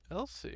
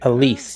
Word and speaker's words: Elise: Elsie. Elise, Huh? I believe, is how that's pronounced.